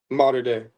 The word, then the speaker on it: Mater Dei: Um how do you say the your high school? Is it Mater Dei Mater Dei? Mater Dei. Like that? Yeah, just like that. The Dei.